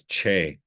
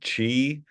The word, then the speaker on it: Che: Anyway, and it's spelled CHE, but it has that cool line above it, that like you'll see in Spanish and stuff. So his name's Che. And he gets called Chi and Shay and a lot of things. Once in a while, he gets just right out the box, they call him Che.